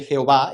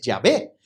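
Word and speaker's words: Yahvé: de vosotros sabéis que realmente la pronunciación de jehová es llave pero esos fariseos otra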